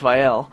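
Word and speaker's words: Vael: Vial family in Starkhaven, and yes, it is pronounced Vial.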